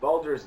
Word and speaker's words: Baldur's: See, I was wondering how to pronounce that. I got the gate part, but the other word was like. Baldur's.